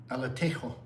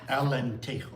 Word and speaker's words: Alentejo: Reach IA in the heart of Alatejo. Sorry, Aljo. And you'll get to visit a traditional cork. Alentejo, I'm sorry.